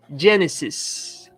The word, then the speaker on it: Genesis: PDF faça suas anotações Líder Mateus Como se pronuncia Genesis Genesis Genesis tá Genesis E aí para complementar vou